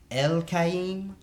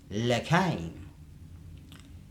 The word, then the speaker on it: Al'Chaiim: Now, this is an ancient Hebrew word, and it would have been pronounced or said like El Chaiim or L'Chaim.